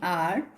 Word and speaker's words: hour: For example, an honor, an hour, an honest. Now here the H is mute, it is silent.